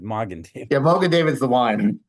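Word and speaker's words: Magen David: exactly what that means not Mogan David mgan David yeah Mogan David's the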